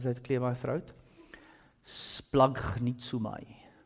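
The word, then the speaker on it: σπλαγχνίζομαι: It gets pronounced like this. I just had to clear my throat. Splagnitsumai. Splagnitsumai.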